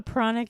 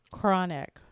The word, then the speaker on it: pranic: beings I am a pronic Healer spelled p r a n i c many people think I say chronic like CH it's not CH it's p r Prana pronic healing and I have studied